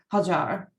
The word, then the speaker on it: Hajar: But the majority of time I prefer to the people and my friends, they can use Hajar. Thank you so much. It's important for us to pronounce it correctly.